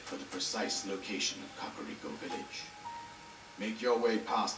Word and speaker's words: Kakariko: And yes, it is pronounced as Kakariko Village. Yes, I will complain about that. I hear people pronounce it differently. It is Kakariko Village.